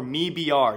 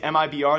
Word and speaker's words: MIBR: me BR now apparently we've mispronouncing MIB are the entire time if you guys do know MIB are the brand is actually standing for made in brazil the way no wins and actually pronounced in a video though is actually a me BR so if I ever